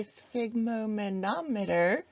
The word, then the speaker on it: sphygmomanometer: We can also measure blood pressure using this amazing device that I always pronounce incorrectly. It is a sphygmomanometer. I usually throw an extra syllable in there.